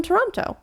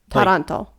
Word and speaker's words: Taranto: It's spelled almost exactly the same. And it's because they're from Toronto. Well, they're not. I don't know if they're from, but Taranto. Taranto.